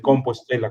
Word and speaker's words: Compostela: del campo de estrellas o de campo estela o de compo Estela, como se pronuncia hoy en día.